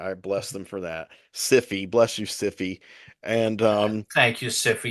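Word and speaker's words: Syfy: spoken interview that now you have to pronounce it cify the cify channel and I was like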